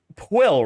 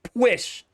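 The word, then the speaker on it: Pwll: So you look at that and you're like oh it's it's Pill, right? No. Wrong. Incorrect. You fool. It's push. Push.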